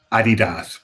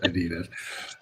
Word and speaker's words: Adidas: It's pronounced Adidas, by the way, not Adidas.